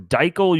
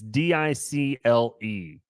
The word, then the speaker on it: Dicle: Researchers from Dickel University. Hold on. I don't know that I pronounced that correctly. It's Dicle.